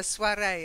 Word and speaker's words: soirée: second word ready yeah we take the French pronunciation a soirée a little get together again